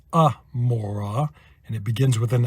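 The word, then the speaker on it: עמורה: of Gomorrah Sodom and Gomorrah well that is pronounced Amora and it begins with an iron so that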